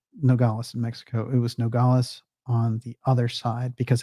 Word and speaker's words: Nogales: And in, or is it Nogales? Nogales. Nogales, that's it. I know there's a pronunciation thing there.